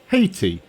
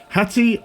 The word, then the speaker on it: Hatti: for a while because I had been pronouncing it Haiti as in the Haitian nation which is uh an island in the Caribbean and I hadn't recognized this particular spelling of a Hattie before and someone corrected me on the pronunciation Hattie and Haiti are not the same so hoti is a